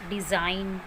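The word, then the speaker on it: design: जब भी जी के बाद एन आता है तो वो जी साइलेंट होता है. For example डिज़ाइन, फॉरेन, साइन.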